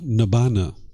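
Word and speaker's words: Nibbāna: How to pronounce it? Nibbana.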